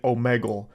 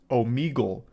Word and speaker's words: Omegle: All the way back in high school, I was calling it Omegle, and only today am I realizing that it's actually pronounced Omegle.